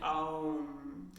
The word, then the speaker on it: Om: And then obviously as we put those sounds back together again, they create the Om sound, which we might think of as rhyming with the sound home, like Om.